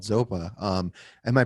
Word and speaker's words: Zopa: guitar player for this super rad band called zopa um am i pronouncing that correct zopa zopa is the the my middle name dharma name